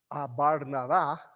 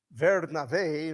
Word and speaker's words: Bernabé: Su nombre, que es Barnabá, es un nombre que significa Bar, hijo de Navá, consolación. Así que Bernabé, nuestra forma de pronunciar, que no es nada parecido ni al hebreo ni al griego en este nombre, ya tenía un lindo